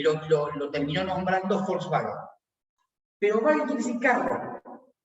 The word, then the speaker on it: Volkswagen: Y la W se pronuncia B corta. Volkswagen.